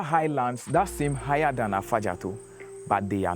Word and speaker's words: Afadjato: But then, as our first tourists came by, they can pronounce Afadjato.